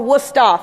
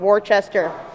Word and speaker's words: Worcester: my college which is spelled or pronounced worcester or woosta for the locals not worchester um this presentation is